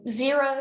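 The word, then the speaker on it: Xero: on the business um zero spelled with an X that is a company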